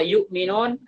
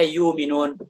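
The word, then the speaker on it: يؤمنون: setah wakaf pada kata yukminun dibaca apa adanya hamzahnya dibaca yuk Minun tidak dibaca yuminun Ini kaidah misalnya setiap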